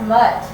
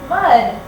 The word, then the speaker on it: mud: I think you forgot your noisy sound. You forgot to turn your motor on in your throat at the end of the word. Let's try it again. What's on his hands? Mud. Great job. I heard the D sound at the end of mud.